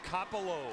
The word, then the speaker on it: Coppola: You know, it's spelled Coppola. C-O-P-P-O-L-A.